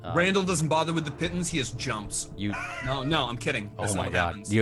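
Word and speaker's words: pitons: And the pittons, I found out how to pronounce it. It's pittons.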